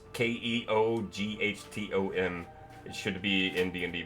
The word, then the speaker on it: Keoghtom: And you find a potion of, I don't know how to say this, Keton's ointment. It's Keoghtom.